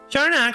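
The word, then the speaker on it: Siarnaq: Sharnak, pronounced Sharnak, is the name of an irregular non-spherical moon of Saturn that follows an eccentric retrograde orbit.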